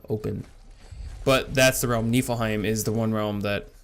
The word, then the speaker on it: Niflheim: Okay, that's how you pronounce it. Niflheim.